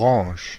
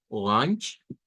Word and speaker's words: Orange: día de ayer, donde se pronuncia una NG, orange, orange, orange, y tenemos una SH al final.